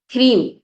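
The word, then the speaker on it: ह्रीं: देखा आपने नेक्स्ट जो मंथ है वो है क्रीम इसको प्रोनाउंस करेंगे इस तरह से एच R double E एम यह है माता भुवनेश्वरी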